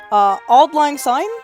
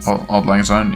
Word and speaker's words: Auld Lang Syne: the sake of time, but long story short, Auld Lang Syne, that's how you pronounce it, right? I think so. Yes. Auld Lang Syne, yeah.